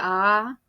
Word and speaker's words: ağa: el que sería "patriarca", que en turco sería "ağa" con la "g con cuernito", que ya comenté en otro video que no se pronuncia y se estira la vocal anterior.